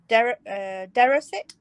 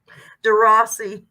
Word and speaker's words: DeRossi: Evidently, we're wrong, though. It's pronounced with 2 E's on the end of it. DeRossi. Huh? There's no E's. I know, but she says John's right, and that's how John says you're supposed to say it.